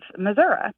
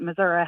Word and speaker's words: Missouri: state as our home as the state of Missouri and people would always ask us why we